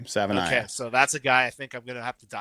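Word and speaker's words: Savaiinaea: I finally found out how to pronounce his name. Savanaia.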